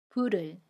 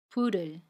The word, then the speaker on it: 불을: 그러면 받침 리을이 이응 자리로 가서 불을 이라고 발음합니다. 연음이에요. 불을, 불을.